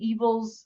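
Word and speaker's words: Eville: is one of lady evil's adopted daughters and evil is spelled e-v-i-l-l-e so it's like fancy-ish evil so um so she's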